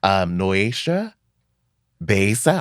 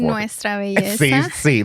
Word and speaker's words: Nuestra Belleza: Noesha Besa, I know I said it wrong. Tennessee in 2018 and California in 2019. Can you say it correctly for me? Nuestra belleza.